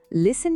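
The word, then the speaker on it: listen: Island শব্দে এস অক্ষরটা silent, লিসেন শব্দে টি এর কোনো সাউন্ড নেই, আর ওয়েন্সডে শব্দে প্রথম ডি অক্ষরটা আমরা উচ্চারণই করি না।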